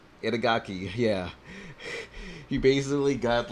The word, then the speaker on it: Itagaki: Inagaki? Hang on. Creator of DOA. What, is that how you say his name? Itagaki, yeah.